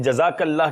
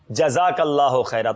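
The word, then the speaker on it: جزاك الله خيرا: लगता है एक नज़र अपने आप में जज़ाकल्लाह के स्पेलिंग भी हमें सिखाने पड़ेंगे। जज़ाकल्लाह नहीं है बेटा, जज़ाकल्लाहु खैरा।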